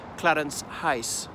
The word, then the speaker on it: Clarence House: So Clarence House, in the 1940s version, that cut glass accent, was pronounced Clarence Heiss. House, Heiss, to rhyme with mice, that's Clarence House.